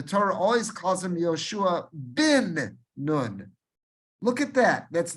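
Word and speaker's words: בִּן: supposed to be pronounced, it is not pronounced ben Nun. It's not Hosea ben Nun. It's not Yehoshua ben Nun. It is always Hosea bin Nun. Yehoshua bin Nun. Again, with a chirik, not with a sagol.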